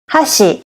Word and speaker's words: 箸: So hashi has two syllables. The first syllable is ha and the second syllable is shi. You can see in the graphics here, in the hashi chopsticks, the first syllable has a high pitch and the second syllable has a low pitch.